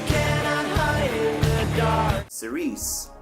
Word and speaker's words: Cirice: Cerise is actually just a mispronounced church.